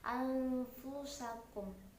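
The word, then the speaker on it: أنفسكم: Jadi di sini ee bunyi bunyi nun sukun yang bertemu dengan fa eh kita samarkan anfusakum. Cara membacanya harus samar anfusakum.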